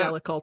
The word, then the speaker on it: Jellicle: No, it's pronounced Jellicle choice.